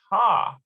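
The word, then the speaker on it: ה: as known or specific so the hey haydea is normally pronounced ha okay examine the following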